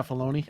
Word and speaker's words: Filoni: Yeah, Filoni.